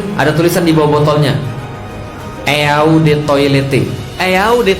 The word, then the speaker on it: Eau de Toilette: Parfum asli ada tulisan di bawah botolnya, Eau de Toilette. Eau de Toilette artinya adalah eau de toilet bacanya.